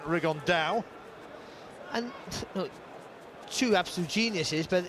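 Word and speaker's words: Rigondeaux: about fighting rigondo or as he's correctly pronounced with the uh spanish accent rig on dao and two absolute geniuses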